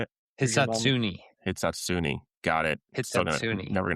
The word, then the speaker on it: Hisatsune: So we got Ryo Hisatsune. How do you say it? Hisatsune.